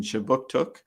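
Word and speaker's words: Kjipuktuk: services conducts business in chebuktuk which is how you say halifax in the migmawa language this city is part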